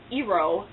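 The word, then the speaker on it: Iroh: gives it to him and i wrote is pronounced eero and he's skinny and he does not make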